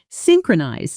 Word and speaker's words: synchronize: Num, vowel sound, turning synchronize into something like synchronize. Instead, keep it tight. Synchronize. 3 clean beats. Stress on that first syllable.